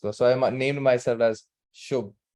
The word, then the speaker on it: Shubh: are confused with the name so they can't pronounce it in the first class so I named myself as shobh s h u b not even with a